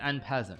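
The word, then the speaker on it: en passant: I pronounced it wrong that time. Yeah, it's N peasant, right?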